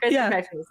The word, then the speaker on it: Chriskirkpatrickmas: How do you pronounce it? Chriskirkpatrickmas.